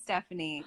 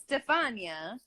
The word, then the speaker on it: Stefania: people butcher your name i could see people saying stephanie because they just stupid then say it but what they don't know how to like it's stefania i know it is